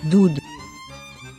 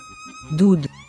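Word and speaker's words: דוּד: Now in this case, the letter Vav has the nickel sign for the vowel U, so this word is pronounced as Dud, Dud.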